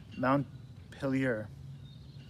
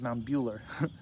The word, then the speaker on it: Montpelier: Montpelier. It's kind of a tricky word. I think I said Mount Bueller. but it's still spelled the same.